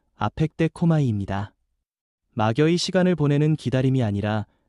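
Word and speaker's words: ἀπεκδέχομαι: 여기서 기다린다는 말은 헬라어 발음으로 아펙데코마이입니다.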